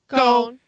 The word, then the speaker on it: Ghosn: Ghosn. I've heard it on the news a lot lately, so I've heard what it is. Exactly. Carlos Ghosn.